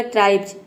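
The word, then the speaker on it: tribes: बाद एस आया है, तो इसलिए हम यहाँ पे एस को ज प्रोनाउंस करेंगे। यहाँ पे देखिए बी ई एस हो जाएगा आधा ब और ज पूरा हो जाएगा ट्राइब्स।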